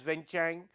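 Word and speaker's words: Vientiane: again for the country of La DPR wenang pronounced as wenchang literally means the city of Sandalwood it is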